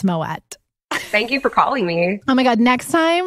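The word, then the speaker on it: Moët: please tell me you looked up the proper pronunciation of my way yeah I knew I knew that it was Moet like oh like you did I'm not yes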